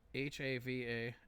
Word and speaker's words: Havanese: How do you spell that? I'm gonna take a look at this right now. H-A-V-A. Havanese.